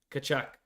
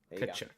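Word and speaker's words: Tkachuk: Kachuk. No T. The T is non-existent. Yeah, Kachuk. It is silent. Kachuk.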